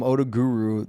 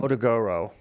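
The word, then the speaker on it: Otoguro: You guys call him Odaguru. There's an O at the end. Odaguro.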